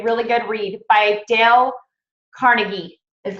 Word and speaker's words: Carnegie: Okay, really good read by Dale Carnegie is how you say his.